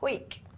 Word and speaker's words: Howick: It says in here pronounced Hoik. Well, he needs to take the A out.